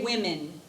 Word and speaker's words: women: woman and two women it looks like it's we say it like this for some strange reason one woman to women say women women women good any questions there